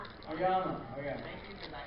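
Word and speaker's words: Aoyama: Y'all are going to kill me if I mispronounce his name. Oyama.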